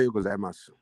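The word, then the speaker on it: おはようございます: Ohayo gozaimasu. Okay, ohayo gozaimasu. Okay. Oh yeah, ohayo gozaimasu. Ohayo gozaimasu. Okay, okay. I don't try my best. Ohayo gozaimasu.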